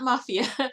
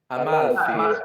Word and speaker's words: Amalfi: What's the no, not Mafia. What's the pronunciation, Gabriele? Mafia Coast or Amalfi, Amalfi?